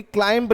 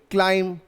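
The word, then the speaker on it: climb: Follow करते हैं उसमें जब भी एम के पीछे बी आता है तो बी साइलेंट होता है। जैसे कि हुमायूं टूम्ब नहीं टूम, जैसे कि थंब नहीं थम, जैसे कि क्लाइंब नहीं क्लाइम, वैसे ही प्लम्बर नहीं प्लमर।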